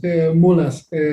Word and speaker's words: Mulás: Yes, Mulás. So in Mexico, it has the accent on the A.